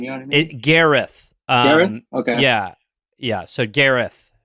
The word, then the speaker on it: Gareth: From the Headgum Studios in beautiful Silver Lake, it's Segmental, starring Gareth Reynolds. On today's show, Sorry, an interview Josh. with what's up? Sorry. Gareth. It's Welsh.